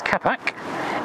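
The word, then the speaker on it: капот: Then bonnet opening, which is pronounced capac, and then here is the black almost hidden plastic control, which is for that radiator blind for the cold weather.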